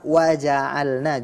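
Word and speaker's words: وَجَعَلْنَا: sana menjadi sukun ya kata waja'alna juga sering sekali saya mendengar orang membaca menjadi bahasa ini tentu keliru karena baris fathah berganti menjadi sukun barakallahu fikum penilaian untuk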